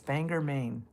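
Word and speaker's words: Bangor, Maine: writes in from his banger banger I don't know how to say it. Banger banger banger man. It's banger man.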